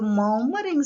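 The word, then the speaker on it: murmuring: this woman is a mummering something in your we are following british english here or is silent are the americans they pronounce it clearly but uh for us it's silent look at the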